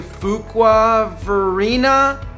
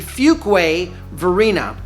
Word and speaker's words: Fuquay-Varina: in the Raleigh area for a while, say Fuquay-Varina, even Fuquay-Varina. Yeah, I know. Fuquay-Varina, all kinds of different mispronunciations. It's actually Fuquay-Varina, and it is the merger of 2 little